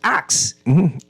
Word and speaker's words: ask: Now Pronounce as ask it used to be pronounced ax right and so no